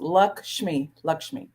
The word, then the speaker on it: Lakshmi: It's 2 syllables. Lakshmi.